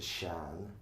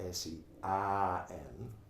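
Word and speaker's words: Seán: So translates into Shan, where I live. Shan or Shan. There's a silent H, because my name is S-E-A, Fada, like an acute in French. So you pronounce the vowel broad S-E-A-N, Shan.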